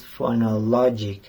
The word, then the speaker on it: phonology: My favorite subject is phonology. In this word, the syllable "no" is pronounced stronger than others.